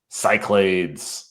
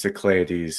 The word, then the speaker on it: Cyclades: I've heard it pronounced Cyclades. So if you're it's probably a listener out there, Cyclades or Cyclades, as Travis calls it. Yeah. That's probably like the proper Greek pronunciation is Cyclades.